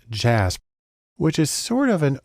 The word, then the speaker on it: JASP: program called JJ ASB it's actually pronounced jazz which is sort of